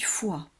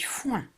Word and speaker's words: foin: Alors je n'ai pas dit foie. J'ai dit foin. Il n'y a pas de lettre muette.